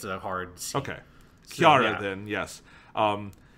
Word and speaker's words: Chara Soon: yes it's it's yeah i'm gonna call her uh kiara because that's how they pronounce it in japanese so it's just like